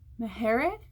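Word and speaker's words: Maher: Nicole how do you say her last name Mahar Mahar this one I really wanted to read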